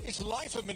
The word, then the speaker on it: Leiferman: If it's the E, it's Leiferman. If it's second, if it's I, it's Leiferman. But in the US, they call him something else.